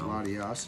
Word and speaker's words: Latias: The two are spelled the same, but I know you pronounce one differently. One's got an I-A-S, isn't it? No. Latias and Latios.